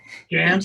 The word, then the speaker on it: Gantt: Do you use, oh, I always mispronounce this. Is it Gantt charts? Gantt charts.